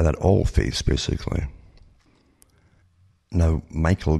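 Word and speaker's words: Mikhail: All Phase basically now Michael gorbachov or Mikel gorbachov as they like to pronounce it was the president of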